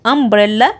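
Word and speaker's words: umbrella: ساكن يبقى اقول ايونيفورم اما لو قلت امبريلا بادئه برده باليو لكن انا نطقتها ايه اه اه ده صوت متحرك يبقى ان ان امبريلا طيب نيجي بقى لاخر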